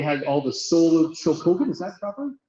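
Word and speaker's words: Chogokin: They had all the Soul of Shokoken. Is that proper pronunciation? Shogoken, what? Shogoken.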